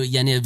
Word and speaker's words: Yaniv: need to get to Yaniv station I guess that's how you pronounce that I don't know the Y A N IV station you can